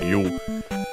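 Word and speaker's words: 湯: First and foremost, we have Mizu, water in general, especially cool or cold, because there's also a separate word, you, accented, that one.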